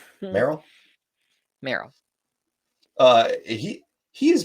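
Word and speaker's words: Merrill: is it Morel okay no it's just like the Pokemon Merl Merl uh he he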